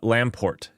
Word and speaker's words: Lamport: Leslie lamp poost name um I I probably mispronounce it uh not lamp post my goodness I'm an idiot uh Lamport it's Lamport it's Lamport Lamport clock there we